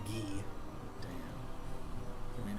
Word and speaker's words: Guy: i was mostly joking there is a character with the name spell g-u-y but i'm pretty sure his name is pronounced gee damn can we name